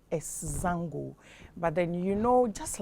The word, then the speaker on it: Zongo: adiza you keep saying zongo but it's not zongu the actual pronunciation is zango but then you know just like my name